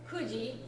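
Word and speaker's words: 九時: Ku is one of the ways to pronounce the number 9. There are a number of the digits, the numbers, that have more than one pronunciation to them. And which one you pick is, again, dependent on what follows.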